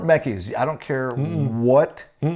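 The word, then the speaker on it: Mekies: confusing to me because they say this is Lauren Mecky's. Okay it's Lauren Mecky's. I don't care what this says. No cuz you watch any F1 race and they call them Mecky's.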